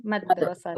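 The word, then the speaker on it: مدرستي: Dalnya disukun madrasati.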